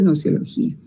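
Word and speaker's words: gnoseología: Esas otras disciplinas filosóficas son, por ejemplo, la lógica, la ética, la nociología, que es la teoría del conocimiento, con G al principio, GNO, noceología, se pronuncia nociología.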